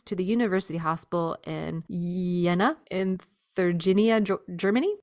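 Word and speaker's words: Jena: the University Hospital in yenna inginia Germany it's spelled j j n a Jenna yenna not sure the artist has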